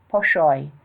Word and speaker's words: poshoy: Learn to say "poshoy," faster, with an emphasis to raise the roof and the accent on the last syllable.